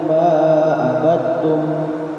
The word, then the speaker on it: ما عبدتم: Qul ya ayyuhal kafirun la a'budu ma ta'budun wa la antum 'abiduna ma a'budu wa la ana 'abidun ma abadtum Ma'abad. Mahnya panjang.